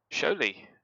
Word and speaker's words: Šiauliai: We are off to Šiauliai, is how you say how that's spelt.